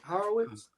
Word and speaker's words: Horowitz: But so the connection to this story, again, Horowitz is how you pronounce it, Jared? Horowitz. So Van on the couch